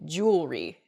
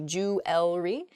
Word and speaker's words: jewelry: together and we say jewelry instead we've missed that second e sound in there it should be jewelry in a sample sentence